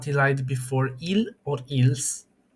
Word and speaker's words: ils: C also does not elide before il or ils. Well, both are pronounced il, so don't get it twisted.